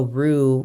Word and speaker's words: roux: I spell it R-U-E, and a roux, which is like the base of most Creole sauces, is spelled R-O-U-X. So it sounds the same, but it's not spelled the same.